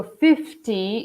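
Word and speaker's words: fifteen: is important 15 so 15 is like when you have the first syllable emphasize 50 and this is 15 I'm just going to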